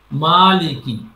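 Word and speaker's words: مالك: লি এ টানবে কেন? মালিকি।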